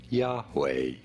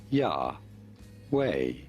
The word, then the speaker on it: Yahweh: How do you go about pronouncing it? Yahweh, Yahweh, Yahweh.